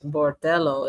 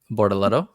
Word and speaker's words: Bortoleto: Bortoleto. Borchileto. Who? Well, how do I say it? Barrichello. Bortoleto. Barrichello. Is it It's not Barrichello though. It's Bortoleto.